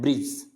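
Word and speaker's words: bridge: डी आ रहा है, तो इस डी को क्या करना है, अपने को साइलेंट रखना है। ब्रिज, क्या पढ़ना है, ब्रिज।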